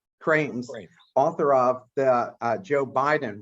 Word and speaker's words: Krames: This is our 127th show, and I am thrilled today to have our guest, best-selling author, Krames. Did I pronounce that right? Actually, it's Krames. Krames, author of the Joe Biden Way.